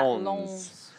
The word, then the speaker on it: Lens: Yesterday, apparently, I said it wrong. I said Lens, and I was scolded in the chat. It's yeah, Lens. They got to do it the French way, Lens.